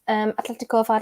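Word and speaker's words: Atlético: has kicked off um yeah i'm glad you pronounced it right um atletico if i'd like to call madrid you and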